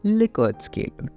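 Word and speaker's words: Likert: first point here is quantification but the correct pronunciation of it is liquor scale anyway continuing with the topic like Li scale options strongly agree agree neutral disagree strongly disagree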